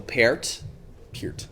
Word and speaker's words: Peart: I've pronounced it Pert. It's Neil Peart.